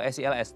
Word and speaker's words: SILS: Sebelum kita bahas tentang mengatasi batu empedu dengan metode bacanya SEALS atau SELS Dok? SEALS. SEALS ya.